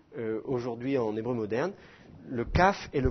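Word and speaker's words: כף: la bouche alors que le CAF se prononce plus sur le devant de la de la bouche comme ça CAF KOF voyez la différence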